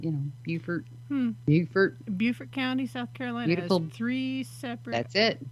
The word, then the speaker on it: Beaufort: there's a lot of uh paranormal activity in beaufort south carolina yeah so the full moon that just brings it out more sharply i gotta look it up now i'm b-e-a-u most places pronounce it beaufort okay but and if you're there it's called